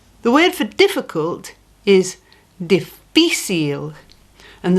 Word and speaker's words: difícil: The word for difficult is difícil, and the strong part of the word is fi.